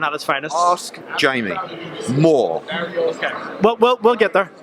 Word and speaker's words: Moore: There has never been an occasion in the history of Jamie Moore's life where he has been called Jamie Murr.